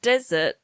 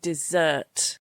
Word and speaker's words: dessert: And desert is not the right pronunciation. You mean dessert.